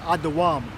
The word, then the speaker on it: Edom: go through the definition Edom is pronounced Adam so it says Edom readed